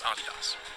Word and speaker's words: Adidas: by the way that is indeed how you pronounce Adidas but back to philm after writing that paper